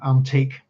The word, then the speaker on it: Anteac: Ah, now the first problem here in pronunciation phonetically I'm going to go with antique.